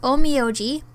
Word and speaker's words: Onmyoji: couldn't use it but anyway we're back with oh me oh gee I pronounced it right this time and now we're